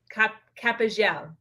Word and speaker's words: Capellan: so correctly it's capital capital so you will pronounce it like if the two else were a j oh okay yes yes